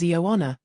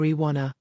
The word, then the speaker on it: Ioana: The teacher introduced me to the class as Ioana, but no one said it right. It came out like Iona or Iwana.